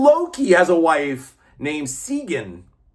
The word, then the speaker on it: Sigyn: And even Loki has a wife named Sigyn. Sigyn, whatever. I know I'm pronouncing correctly because I looked it up. Sigyn.